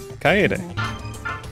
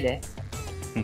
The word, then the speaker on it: Kaede: Kaede. Right? Kaede. Yep. Kaede. So you kind of are pronouncing each vowel separately. Yes. So it's not like a double vowel kind of thing in English.